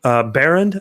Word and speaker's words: Behrend: getting into this so tonight I've got Behrend I believe is how I pronounce the last name yeah you got it